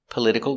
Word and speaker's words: political: Stress is on the second syllable.